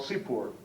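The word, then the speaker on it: סִפּוּר: The outer sphere is uh is called seafair. The inner sphere is called sepor. The inner inner sphere is called cipur. All spelled the same pronounced differently.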